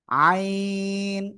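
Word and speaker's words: عين: আইন ভালো করে দেখেন আইন আইন চার এলিফ টান হবে এটাই ঠিক আছে আইন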